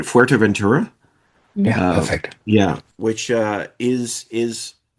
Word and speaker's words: Fuerteventura: Fuerteventura?